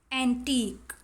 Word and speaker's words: antique: Vague, antique. In these two words UE is silent.